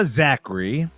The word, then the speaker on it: Zakri: Zakri, pronounced the correct way, is a trailblazer in digital content creation and a spirited adventurer.